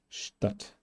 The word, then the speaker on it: Stadt: ST is doing the same with T in the same cases. Stadt, Stadt.